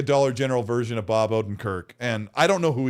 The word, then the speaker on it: Odenkirk: Ordenkirk, right? How do you say his last name? The Better Call Saul. Odenkirk.